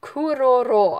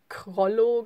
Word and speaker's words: Kuroro: Und er wird Kuroro ausgesprochen.